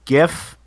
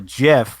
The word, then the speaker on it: GIF: just respond with a GIF or a GIF. However you want to pronounce it. Oh, I'm Either hard way. G all the way. Huh? I'm hard G all the way.